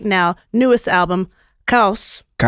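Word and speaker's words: Caos: Newest album, Kaus. Kaus. You like how I said that? I love it. Okay. Did I do a good job? Yeah. Pronounced perfectly. Kaus.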